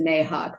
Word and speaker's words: NAHUC: And I've heard it pronounced 1,000 different ways. I have kind of a Midwestern twang, so I pronounce it NAHUC.